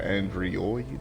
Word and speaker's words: Andriod: I go by the name of Android Centaur 5, or Android, as most people seem to pronounce it. I am aware that the I and the O is backwards on purpose.